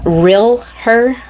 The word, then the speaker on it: Real Her: cents this is the real her real like a real woman real her it's spelt r-e-a-l like real and then uh er so real her real her real